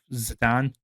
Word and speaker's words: Zidane: like the antithesis of Zidane, who I now call him Zidane. The proper way to pronounce it's more like a French name.